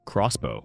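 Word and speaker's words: X-Bow: They called it the Expo, pronounced Crossbow, an open top mid-enine track weapon.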